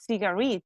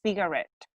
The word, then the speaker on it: cigarette: Then it's not cigarette, it's cigarette.